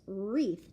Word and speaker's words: wreath: because I mean it the word is not worry it's wreath just what the R and so she said you know I does have the r sound but it doesn't actually start with r starts with W so yeah that was